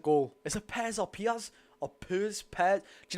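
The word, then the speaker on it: Pears: Is it Pez or Piaz? Or Pez? Pez? Do you know what it is? Just for the mick, right? I'm going to say Pez and someone's going to say, it's not Pez, it's Piaz.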